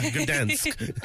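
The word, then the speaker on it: Gdańsk: Yeah, Gdansk in Poland, and that's what she won.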